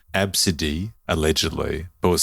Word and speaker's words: Abcde: that no no no it's pronounced absidy when it's spelled ABCDE everyone in that room